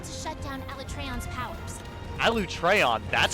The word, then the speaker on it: Alatreon: Alatreon, that's how you say his Non-elemental fucking weapons name? Won't be of much use, huh? Hunters, you got that? Alatreon.